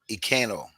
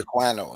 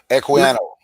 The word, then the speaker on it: Equiano: Olada Ikano. Olada Ikano. Okay. Equiano. Yeah. Equiano. Right. Have you heard of him? I heard the name Equiano and I've seen his picture, but I haven't studied him though.